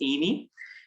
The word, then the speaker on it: Aimee: My wife's name is Amy. So hopefully that's easy to remember, because I think now Bishop Kevin's wife name was Amy. So, but her name is spelled Aimee. So she has a unique spelling for her name.